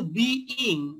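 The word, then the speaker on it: being: আমরা এইটার উচ্চারণটা কিন্তু বিইং, বি এর সাথে আইএনজি, আমরা কিন্তু অনেকে বিং উচ্চারণ করি, বিং কিন্তু নয়, এটা কিন্তু বিইং।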